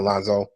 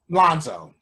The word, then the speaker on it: Lonzo: Not Alonzo. I keep pronouncing his name wrong. Well, Lonzo. It's still Alonzo. That's his real name. Okay. His final statistic line was 10 points, 8 assists, 4 turnovers.